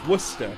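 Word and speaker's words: Worcestershire: is wor Chester wer no it's Worster whater share whater sh you pronounce it like you're saying wor w w o r c e s t e r yeah but the one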